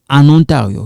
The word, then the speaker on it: en Ontario: This one we kind of link it. We say en Ontario.